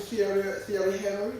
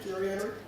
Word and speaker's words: Thierry Henry: I remember one time watching Thierry Henry, that's how we pronounce his name, Thierry Henry?